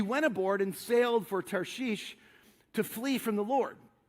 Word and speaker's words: Tarshish: It's not Tarsus, by the way. Like you've heard that. It's Tarshish is actually how you pronounce this. So he headed towards Tarshish, which is like completely in the opposite direction.